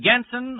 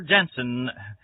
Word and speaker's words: Genson: and Auto Supply in Lockport, Illinois, and at Genson or Jensen. I hate to mispronounce anyone's last name, but it's spelled G-E-N-S-O-N, Jensen Hardware at Kankakee, Illinois.